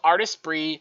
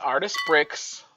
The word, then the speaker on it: Artesprix: page into a t-shirt using artist bree it's not pronounced artist bricks rip that band-aid off